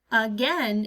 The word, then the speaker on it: again: in again is ah usually I think of letter U when I hear the up sound but in our word again we just have to remember that it's letter A that makes that up sound ah good that